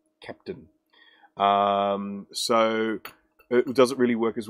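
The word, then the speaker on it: Kapton: It's actually just so you know, Adam, it's spelt K-A-P-T-O-N, Captain.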